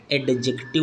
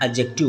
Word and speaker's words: adjective: एडजेक्टिव नहीं बोलते हैं। एडजेक्टिव बोलते हैं। डी के बाद तुरंत अगर जे आता है तो डी साइलेंट हो जाता है। हम लोग क्या बोलेंगे? एडजेक्टिव।